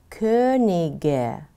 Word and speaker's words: König: Aber wenn die Wörter auf ig verändert werden, wird das g auch wie ein g ausgesprochen. Zum Beispiel König, aber die heiligen drei Könige oder die Königin.